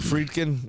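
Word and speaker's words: Friedkin: So, you know what's great is the the is it Fredin?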